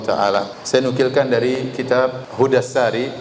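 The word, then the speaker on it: Hadyu as-Sari: Saya nukilkan dari kitab Hudassari. Sebagian orang bacanya Hadyusari, tetapi yang benar Hudassari, sebagaimana ditashkil, diberi harokat langsung oleh Ibnu Hajar rahimahullah, penulis buku.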